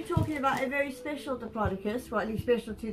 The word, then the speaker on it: Diplodocus: Some people pronounce it Diplodocus. I personally say Diplodocus.